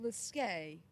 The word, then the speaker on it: Slisk: Someone called Slisk. It's something about a game. Slisk. Who's that then? Never heard of them. It's pronounced Liske.